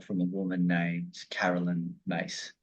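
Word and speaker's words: Myss: body of work from a woman named Carolyn mace spelled mys but pronounced mace she has other archetypes that she teaches and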